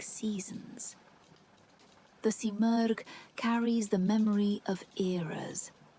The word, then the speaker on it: Simurgh: In Persian mythology, the phoenix-like creature is the Simurgh, pronounced Simurgh.